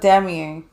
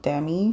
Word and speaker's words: Demie: uh who's that chick Alexa demier I think that's how you pronounce it Alexa Dem like it's spell d e m i e so dami you're talking about Maddie